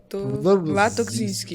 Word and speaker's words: Latokzinski: Se pronuncia Latokzinski. Latokzinski. Sim, é de origem polonesa.